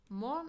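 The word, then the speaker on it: も: Mo means also or to as well. It is pronounced as mo and usually it comes after a noun.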